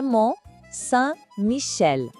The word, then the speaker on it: Mont Saint-Michel: E olhem só que joia, vamos de novo, com cuidado na pronúncia. Le Mont Saint-Michel.